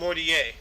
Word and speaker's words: Mortier: Because there's an E in it, not an A. Well, that's how it's pronounced, Mortier. Yeah, it's you're right.